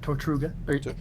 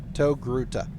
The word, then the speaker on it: Togruta: i look to the tortuga what's the pronunciation togruta togruta i always get the t and the g mixed up every single time to grouted i look